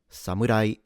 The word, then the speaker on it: Samurai: Today we're going to learn how to pronounce samurai. Samurai sa m ra samurai.